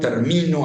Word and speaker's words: termino: You have three-way contrasts, for example, in situations like término, termino, and terminó. Those are three different forms of the verb terminar, and also a noun related to that. And changing the position of the stress syllable, you change the meaning of the word.